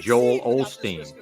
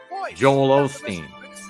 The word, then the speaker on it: Joel Osteen: when people say that they're more inclined to say Joel Olsteen Joel Osteen Joel Osteen it's phonetically sounds like old steam let's go out and